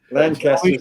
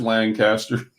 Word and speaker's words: Lancaster: I get yelled at when I pronounce it like that. Yeah, don't know you're from out of town, Rodney, if you go up there and say, "Where's Lancaster?" It's Lancaster. Lancaster. It took them about 6 months for me to pronounce it right.